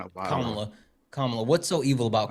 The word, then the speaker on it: Kamala: which one it is or Well, it's Kamla. She said different. She didn't. We're literally just giving you the correct pronunciation.